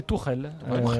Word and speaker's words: Tuchel: Thomas Tuchel, prononcé Tourelle. Tourelle, comme une tourelle.